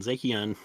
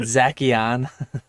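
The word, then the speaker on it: Zacian: Fresh Tat said Zakon. I I'm pretty sure it's Zashian. I've heard Zachon. I've heard Zashian.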